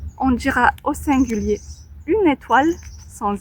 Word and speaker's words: étoile: Ici c'est e le son E parce que et bien en français on a des accents sur les lettres sur les voyelles mais E A B C D E. Et là nous dirons étoile et pas e mais l'accent ici étoile, il y a un s.